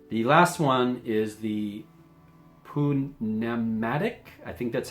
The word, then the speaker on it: pneumatic: But in this case, I'm pretty sure it's pronounced where you actually pronounce the P.